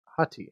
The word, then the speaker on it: Hati: This sounds like this is the potential stand-in for not having Hati anymore. Or Hati, depending on how you want to pronounce it.